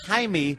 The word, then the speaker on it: Jaime: His name is Jaime. Jaime. Why don't you just say, good word, Jew? No, it's not that. It's Jamie in Spanish. Yeah. It's pronounced Jaime because of the J.